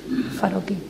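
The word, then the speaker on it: Farocki: H-A-R-U-M, y Farokhi, como suena con K, con CK. Farokhi.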